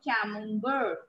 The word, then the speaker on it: camembert: cheese of francis love camembert c-a-m-e-m can mum bird now this tea is silent two important cheese